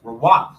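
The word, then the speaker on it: רוח: That's Rawak. I believe that's right. Rawak, like Rawak, Rawak, Rawak. I believe that's how you say it.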